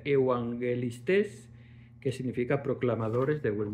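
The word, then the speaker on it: εὐαγγελιστής: Eh, tenemos profetas 4396 que significa vocero y evangelistas que se pronuncia evangelistes, que significa proclamadores de buen mensaje.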